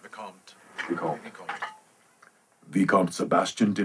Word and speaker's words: Vicomte: The way you did it first is perfect, Vicomte.